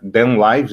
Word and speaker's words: Kdenlive: Mas pronunciando aí na corrido seria DenLive, né?